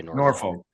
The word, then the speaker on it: Norfolk: We should be pronouncing it the way that Virginia pronounces it because that's the proper way to pronounce it.